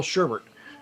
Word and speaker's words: sherbet: that sounds stupid so i call it sherbert always have and i always will no it's still sherbet it's well yeah because